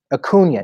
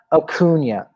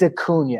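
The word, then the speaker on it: Acuña: start ronald acuna jr akuna natakuna akunya and you know how i learned to pronounce that bryce harper grace harper taught me that one thank you bryce harper now i know how to pronounce his name did you see that clip did you see that i did there's a thing i'm shouting he's like it's a cuny say his name right it's a cunha and i'm like thank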